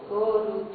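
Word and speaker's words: ゴールド: O japonês não tem um jeito de pronunciar a não ser vogal e consoante tudo junto sempre. Consoante, vogal, tudo junto. Então, gold não existe. Tem que ter go e um U do lado para fazer gorudo.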